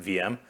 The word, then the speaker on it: Veeam: And so Veeam started off as, frankly, our name is technically supposed to be pronounced VM because we were connected to VMware.